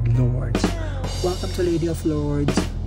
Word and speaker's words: Lourdes: So the correct pronunciation is not Lourdes, but instead Lourdes.